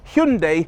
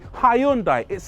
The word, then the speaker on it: Hyundai: a Hyundai somebody pipes up and says it's pronounced Hundai like Sunday no it's not not in the UK over here Hyundai taught us to say hyund it's in all of their adverts pronounced hyundi so